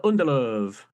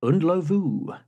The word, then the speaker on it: Ndlovu: Peter Underlove. Correct. Thank you very much. Okay. And in fact, the correct pronunciation is Undlovu.